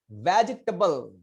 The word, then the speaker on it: vegetable: Vegetable.